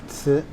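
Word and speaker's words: 瓷: On the top, you have a character that is pronounced ci.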